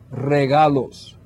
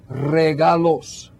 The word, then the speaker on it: regalos: word for gifts is regalos now that means you have to be able to learn to roll your R's some of you will need practice one more time regalos good some of you